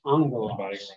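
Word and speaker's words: ἄγγελος: Yeah, with the gamma nasal, the first gamma gets pronounced like a nu.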